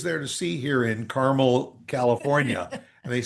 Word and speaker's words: Carmel: Just like my sister lives in Carmel, Indiana. Oh, that's another one. But, if you're in in California, it's Carmel.